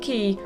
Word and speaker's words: Quay: I wanted to discuss the brothers Quay, or some people pronounce it Key, first, and with this